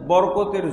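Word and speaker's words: بركة: একটা দরজা খুললেই তো যথেষ্ট, কিন্তু আল্লাহ কি বলছেন, বরকতের যত দরজা আছে সব খুলে দিতেন।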